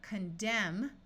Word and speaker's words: condemn: and it becomes limber here we have condemn with a silent n but when we add the letter a and the suffix shun it becomes condemnation where the n Sound is clearly heard if you have GN